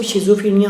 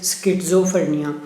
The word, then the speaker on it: schizophrenia: अच्छा, इसको शिज़ोफ्रेनिया हम यूजुअली पढ़ते हैं, लेकिन इस टर्म को प्रॉपर जो प्रोनाउंस किया जाता है that is स्किज़ोफ्रेनिया. So schizophrenia is actually caused by hallucinating agents.